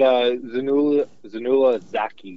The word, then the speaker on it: Zainullah Zaki: What is the interpreter's proper pronunciation of his name? So we just call him Zach, but Zainullah Zaki is his full name.